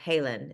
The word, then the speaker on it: Halen: In 2006, when her son Halen, is that how you pronounce his name? That's how you pronounce it. Mhm. Halen was born at Legacy Emmanuel Hospital.